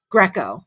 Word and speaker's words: Greco: Greco, just like Roman wrestling. Greco, Greco audience, the owner of Nevada Small Business Consulting.